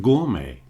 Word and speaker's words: gourmet: all agree on is we don't pronounce the T. So beret buffet or buffet cabernet a type of wine croquet is a game gourmet not gourmet but gourmet sorbet is that iced dessert.